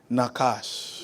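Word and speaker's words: nachash: But that word enchantment or omen is the word nakash. Nakash. Say nakash. Nakash. Say it now. Nakash. Say nakash. Nakash. is spelled N-A-C-H-A-S-H.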